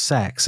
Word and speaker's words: CeX: learned how that it's actually pronounced Leal it's pronounced sex isn't it it is pronounced sex they are sex shops yeah I went to